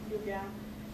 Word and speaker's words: lluvia: So for example, you would pronounce lluvia as lluvia with the Y, or se llama as llama with the Y, which we talked about previously.